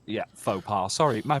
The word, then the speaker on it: faux pas: I think you mean faux pas, because au pair means something different. Yeah, faux pas.